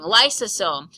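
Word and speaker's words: lysosome: both let's keep going lome lome sounds like the word Lysol it is all about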